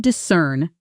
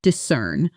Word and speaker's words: discern: Even though she spoke quickly, I could discern her main argument. Notice how could discern almost blends into one smooth sound. Could discern, with the stress landing hard on that second syllable, cern.